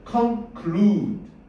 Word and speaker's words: conclude: 그래서 발음 어떻게 해야 되냐면 conclude, clue 이렇게 길게 해줘야 돼.